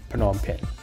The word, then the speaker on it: Phnom Penh: 5 in Cambodia in the capital city of Phnom Penh okay and yes that's how you pronounce it okay so obviously a lot of